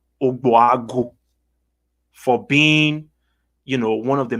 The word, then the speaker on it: Ogbuagu: GB is pronounced B. So it's Ogbuagu.